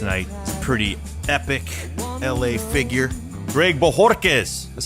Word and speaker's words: Bojorquez: My guest tonight is a pretty epic LA figure, Greg Bojorquez. That's how you pronounce that. That's me, Bojorquez.